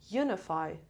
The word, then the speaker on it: unify: the first level okay unify unify unify unify stress unify first level inaudib love you